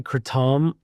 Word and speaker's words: kratom: I say kratom because it's actually kratom, is how it's pronounced in Thailand.